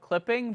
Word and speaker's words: CLPPNG: Well, I'm gonna show you the album called Clipping, but like imagine spelling clipping without the vowels. That's how the album is spelled. All right. Okay. It's CLPPNG. Okay, and the artist's name is Clipping.